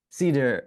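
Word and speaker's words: CIDIR: Okay, Cedar.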